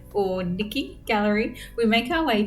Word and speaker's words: Nike: The guide yesterday told us that her name is actually pronounced like Nikki.